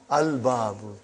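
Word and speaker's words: الباب: Is it moon letter or sun letter? Moon letter. You did pronounce lam. Al-babu.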